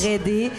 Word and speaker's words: Drê-D: Ça s'écrit Dre, D-R-E, accent circonflexe, -D, yes. Dreadé.